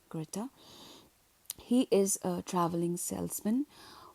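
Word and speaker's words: Grete: great greata greata greata that's how the German pronunciation is greata he is a traveling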